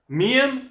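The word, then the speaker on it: 미음: does the romanization say the romanization says miam is m korean berry says that the meme is a bit softer than the english m and korean billy is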